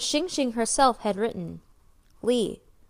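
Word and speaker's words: 鲤: Saying that syllable with the tone of voice dipping and then rising in pitch meant carp, but saying the same syllable with the tone of voice falling from a high to low pitch, it meant advantage.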